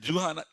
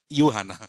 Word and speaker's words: Juhana: I immediately was telling, hi, Mr. Juhana. I said, Then what happened? No, Yuhana. Yes, you pronounce it correct, right?